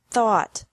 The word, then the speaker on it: thought: teach taught taught think thought thought remember that the g is silent in these verbs verbs with three different